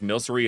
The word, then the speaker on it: Milcery: alchemic cream, just like Milcery is milk sorcery, not alcreamy.